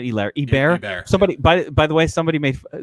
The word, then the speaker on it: Herbert: I'm not saying it wrong. I'm making Hebert a thing. I know his name. I don't want to call him Herbert. It's such a weird sounding last name.